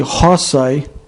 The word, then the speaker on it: rosae: os citados de tongos rosae rosa pronuncia-se rosai ou ros poena pena pronuncia poina